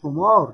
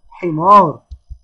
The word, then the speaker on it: حمار: حمار، حمار، اوعى واحد يقول حمار، لا اسمه حمار.